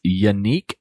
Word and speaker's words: Yannick: Her name is, it's pronounced like Monique. It's Yannick Grant.